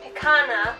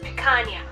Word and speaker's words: picanha: I thought it was supposed to be pronounced picana because it's got the H A there, like piranha. But no, it's according to the ad I saw, it's supposed to be pronounced picanha.